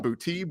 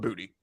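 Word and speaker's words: Boutte: exactly the same way b-o-u-t-t-e everybody said k-shawn boutique boote he said this week talking with reporters it's booty he said it's pronounced keishan booty so i don't know if you want to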